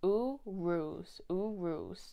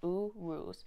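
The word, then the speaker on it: Uruz: this yes okay yeah it's pronounced oo roos o o r o o z u ruse and the meanings are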